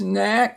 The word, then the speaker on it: knack: So first is knack, like some people have the knack of getting 100 on their spelling every week.